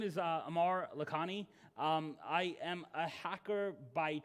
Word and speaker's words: Amar Lakhani: My name is Amar Lakhani.